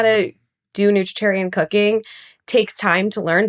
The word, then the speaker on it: nutritarian: Yes, I get half the retreat, and then I still go to the store and shop and cook the vegetarian, nutritarian way, not 100. You pronounce that term nutritarian perfectly, Oh by my the way.